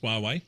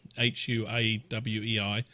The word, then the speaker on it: Huawei: there's a challenge for huawei pronounced Huawei hua WEEI the challenge of Huawei